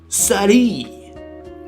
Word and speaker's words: Saruei: We're a little more open on this stuff, but we're talking about the French VTuber Saruei, right? That's how you pronounce her name.